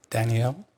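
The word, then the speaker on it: Daniele: Dani Ellie how do you say your name sir Danielle last name p.m.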